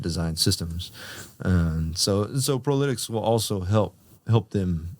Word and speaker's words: ProLytX: name and try to figure out how to pronounce it I've heard prolic I've heard pretex um but I think there's a there's a